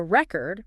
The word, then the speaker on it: record: But a record, pronounced with the emphasis on the first syllable, can refer to a written document or a vinyl record with music.